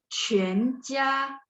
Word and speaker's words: 全家: 确定 memastikan, 确定。下雪捐钱 JUAN mulutnya bulat 捐钱 terus 全家 Q bacanya ada angin ya 全家再来是选举 XUAN mulutnya masih bulat ya 选举 Terus 句子 JU, masih ingat ya, pokoknya yang peraturan yang ini.